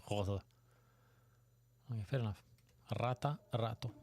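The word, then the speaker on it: rotte: And in Danish is rode. Okay. Same, it's spelled rote, but it's pronounced something like rode.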